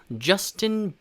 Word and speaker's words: Justin: Justin Bieber 라고 발음합니다. 그래서 일단 이름 같은 경우에는 Justin 저스틴하고 조금 다른 느낌이죠. Justin 그 J 발음을 좀 살려서요, Justin 이라고 발음하시면 되고요, 뒤에 Bieber 같은 경우에는 Bieber 라고 발음하시면 됩니다.